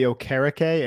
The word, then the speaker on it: Okereke: saw that signing yeah so I pronounce it Bobby ocarake and we're gonna have